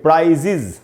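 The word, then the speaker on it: prizes: या ईएस लगाया है तो उसका भी उच्चारण इज की तरह करेंगे। जैसे प्राइज का मतलब होता है पुरस्कार, और प्राइज में ईएस लगाया तो इसको पढ़ेंगे प्राइजेज, इसको भी प्राइजेज नहीं पढ़ना चाहिए।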